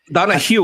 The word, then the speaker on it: Donahue: Donahoe. Is that how you pronounce it? Donahue, like the hue on a TV, like a color.